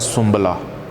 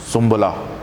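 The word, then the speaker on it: سنبلہ: में कहा जाता है सुमला सुमला जिसमें नून थोड़ा सा साइलेंट है हल्का सा उसका बस टच है सुमला इसके बाद है लिब्रा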